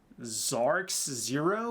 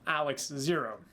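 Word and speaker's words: XARX0: to be something like Xarcs zero or something, which admittedly, it's weird, but I do kind of like the way it's actually supposed to be pronounced, though, is Alex. Well, Alex zero.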